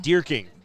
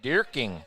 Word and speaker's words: Dierking: is Tate dierking yeah how do you say that last name deer king deer king that's all right six